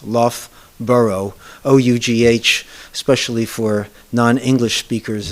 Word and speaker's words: Loughborough: it the locals pronounce Loft burrow o u g h used two times in that Town's name and two different pronunciations love burrow o-u-g-h especially for non-english